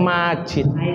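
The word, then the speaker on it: مجيد: Kan kalau terakhir sholat itu bacanya Hamidun Masjid itu ya Pak ya? Bukan masjid, Hamidum Majid.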